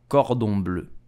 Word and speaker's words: cordon bleu: children love this dish so how do you pronounce it correctly in french you will say cordon bleu cordon did you know that unfortunately the